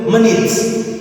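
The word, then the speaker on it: minute: begini lihat matikan if tulisannya itu Minut bacanya itu menit menit oke ulang once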